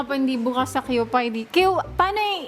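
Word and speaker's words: Kewpie: Keep way. QPie? Ang pagka-pronounce ko dati, QPie.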